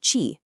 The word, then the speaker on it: qi: Now this whole clock is built around the idea ofqi that's spelled qi pronouncedqq chi.